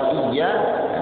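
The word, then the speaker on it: إياك: Iyyaka na'budu wa iyyaka nasta'in. Maka bacanya yang benar bacanya. Iyyaka, pakai tasdid. Iyyaka, hanya kepada Engkau ya Allah. Jangan iyyaka artinya matahari.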